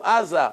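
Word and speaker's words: עזה: Gaza.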